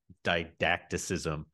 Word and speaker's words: didacticism: What's wrong with didacticism, which I probably just mispronounced, in art right. for Kierkegaard? No, that's the right way to say it.